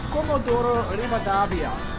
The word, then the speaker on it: Comodoro Rivadavia: Basically, for us Australians, the best way to think about it is it's a Holden Commodore in the river. Anyway, that's the way I'm teaching myself to make sure that I try and pronounce it correctly each way.